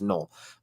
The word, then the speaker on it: Noel: just no excuse me it's spelled Noel but it's null uh as well Iowa